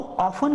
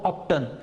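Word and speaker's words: often: हाउ ऑफन का मतलब होता है कितनी बार, यहाँ पे आपको ऐसा नहीं बोलना है हाउ ऑफ्टन, नहीं, टी का प्रोनाउंसिएशन आपको साइलेंट रखना है।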